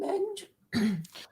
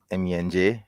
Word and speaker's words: Menj: Um, Actually, to be honest, Claire, I would actually prefer to be addressed as MENJ because MENJ is actually my initials. Yeah, I don't know why people like to pronounce it as Menj, to be honest.